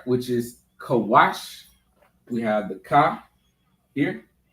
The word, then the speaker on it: Kush: Which is Kawash.